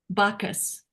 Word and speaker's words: Bockes: And you pronounce her name Bacchus, like the god of How do you spell her name?